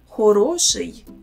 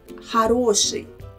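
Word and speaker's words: хороший: this word is it horoshi first letter o here is pronounced as a also notice how the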